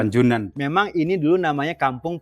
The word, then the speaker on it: Panjoenan: Jadi, Guys, ejaannya masih ejaan lama Pak ya. Iya. Panjoenan. Dibaca Panjoenan. Panjoenan.